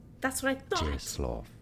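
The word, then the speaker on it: Czesław: In Polish, it is said as Czeslaw. That's what I thought. Czeslaw. Cheslaw.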